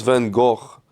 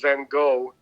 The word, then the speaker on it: Van Gogh: Niels van Gogh, Pulver Term. I think you know this track. Humate, Love Stimulation. This is notice that Greg, in his hoity-toityness, pronounced Van Gogh in its correct Van Gogh.